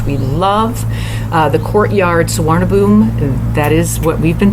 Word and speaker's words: Suvarnabhumi: in Bangkok which we love uh the courtyard swab boom that is what we've been told is the correct pronunciation for the airport here in Bangkok the